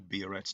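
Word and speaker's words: biuret: about something called the buret test that is not a misprint it is really spelt like that and the way i pronounce it we'll do bioret test so we can then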